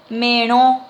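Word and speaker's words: merõ: Mero, con acento nasal, es melón.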